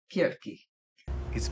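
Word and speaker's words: Circe: Kirk. It's pronounced kirki.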